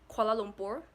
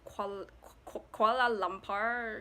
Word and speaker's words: Kuala Lumpur: would say militia militia and our capital is Kuala Lumpur I've heard people pronounce it as kuala lumpar called a limpid something that but it's kuala